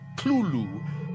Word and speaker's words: Cthulhu: Uh you're supposed to put your tongue at the roof of your mouth and cough it out like Clulu. But he says, you know, the name is an entirely alien name not designed to be pronounced by human vocal cords. The word is only a symbol for something that is entirely beyond the ability for humans to to to make the sound. So So there is no incorrect way to pronounce it because there's no correct way to pronounce it.